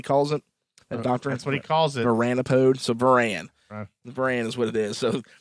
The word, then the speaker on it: Varan: Varan is what it is.